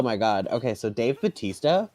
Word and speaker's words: Bautista: That man, oh god, that man is like, that man, Dave Bautista, so of course his real name is his name is pronounced Bautista, but for some reason, because it's WWE and they're very America centric, they changed his name to Batista.